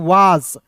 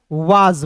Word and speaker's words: was: Direct पढ़ते हैं दोस्तों वास। अब देखिए वास नहीं पढ़ते, देखिए एस का उच्चारण यहाँ पे ज के रूप में करेंगे दोस्तों, तो इसे वास नहीं पढ़िएगा, इसे क्या पढ़ेंगे दोस्तों, वाज पढ़ेंगे।